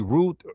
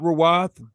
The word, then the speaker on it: Ruth: And how do we know it is simply root root not raw?